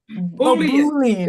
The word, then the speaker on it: Boolean: Maybe it's my Yeah, pronunciation. sorry about that. Yeah. It's okay. But Boolean.